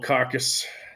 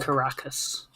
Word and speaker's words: Caracas: The Grinch has stole Caucus. Is that how you pronounce that city? The capital. Caracus.